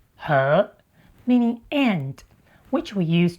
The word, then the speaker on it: 和: It's pronounced h meaning and which we use to connect two nouns like In Taiwan, more people pronounce it h then h even though both pronunciations are listed in the dictionary.